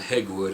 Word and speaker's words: Hegwood: it says yeah and hegwood is correct it says pronounced and here it is phonetically H then the word egg then wood egg wood says since